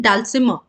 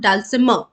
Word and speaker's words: dulcimer: a champion in playing dulcimer okay so how are we pronouncing it dulcimer so don't let that R sound come dulcimer okay I hope the